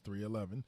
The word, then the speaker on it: 311: They're pronounced 311, is an American rock band from Omaha, Nebraska.